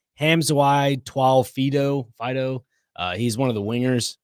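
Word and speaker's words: Hamiso Tabuai-Fidow: His name is pronounced like Hamzawai Twal Fido.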